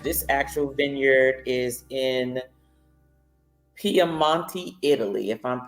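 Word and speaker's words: Piemonte: and the ACT this actual Vineyard is in piamonte Italy if I'm pronouncing it correctly paman Italy p i e m o n t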